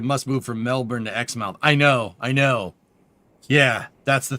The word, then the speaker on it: Exmouth: Pronounced Exmouth.